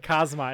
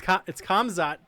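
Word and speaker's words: Khamzat: I actually said it wrong. I said Kazmat. It's Kamzat Chimaev.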